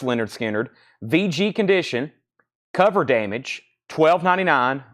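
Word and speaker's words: Lynyrd Skynyrd: that's already sold and we have Leonard skinnard pronounced Leonard skinnard VG condition cover damage $1299 riding on the cover pronounced Leonard skinnard VG condition 12299 a lower grade copy but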